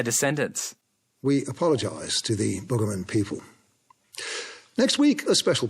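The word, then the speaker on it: Bwgcolman: festival called bwg coleman it's an aboriginal word pronounced boogerman the mayor of palm island alf lacy told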